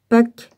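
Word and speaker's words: Peake: Pâques, je prononce ça comme ça, P-E-A-K-E, soutient cette solution.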